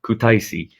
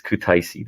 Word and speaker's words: Kutaisi: Now I'm going to feel bad if I pronounce it wrong. Kutaisi. It's Kutaisi, the third biggest city in Georgia.